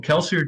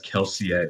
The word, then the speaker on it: Kelsier: And, well, Kelsier did say he would die.